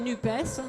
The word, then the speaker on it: NUPES: note d'humour, parce que j'ai dit NUPES, parce que moi je prononce toutes les lettres, mais il y a ceux qui disent NUP, pour ne pas le citer, c'est Jean-Luc Mélenchon, et qui donc oublient